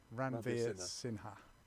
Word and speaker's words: Ranveer Sinha: rad ran the ram ranveer sinha ranveer sinha not sinner i don't call him